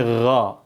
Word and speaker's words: ghain: Gain tapi bukan g sebenarnya bukan gain tapi gho gho ini kalau lihat makhrajnya dia semakhraj setempat dengan siapa?